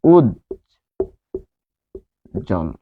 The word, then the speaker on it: উজ্জ্বল: উচ্চারণ হচ্ছে উজ জল। উজ্জ্বল।